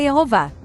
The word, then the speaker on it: Yehová: Embora não seja a pauta desse vídeo, é digno de nota que uma equipe de pesquisadores judeus descobriu manuscritos bíblicos com a pronúncia Yehová, Jeová em português.